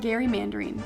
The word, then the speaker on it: gerrymandering: supposed to be pronounced gary mandarin with a hard g sound my real name is